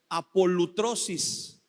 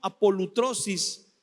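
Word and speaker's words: ἀπολύτρωσις: es está media rara y media difícil de pronunciar. Es apolutrosis. Es un término que se usaba, fíjese bien, en los tiempos del Nuevo Testamento, el término apolutrosis se usaba para referirse cuando los esclavos en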